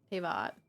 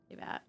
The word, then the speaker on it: Tivat: Also, how do you say Tivat? Because I've changed how I said it like 5 times when I was reading that thing earlier. Tivat. Tivat. Like a vat. Tivat.